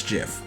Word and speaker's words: GIF: do you pronounce it gif reviving do you pronounce it jeff or gif gif the original person that created the gift says it's jif and he's wrong so are you going